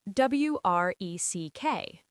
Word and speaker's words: wreck: W R E C K Wreck.